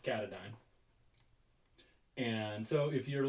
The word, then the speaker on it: Katadyn: the appalachian trail and i thought it was katahdin but apparently it's katadyn and so if you're like me and you're new to the camping world and you're watching this video it's katadyn say it like 400 times and and you'll